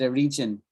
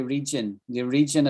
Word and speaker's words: origin: In the Roman world, well, I want to correct the pronunciation thing in what you said before I forget, right? You said a region. It's origin. You said the origin of this expression, right?